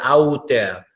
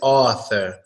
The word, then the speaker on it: author: little bit ah ah so you'll probably say something like author or out there maybe when you see that you you do it too hard to say out there but its author oh it's like aww a similar to the aww sound so for example we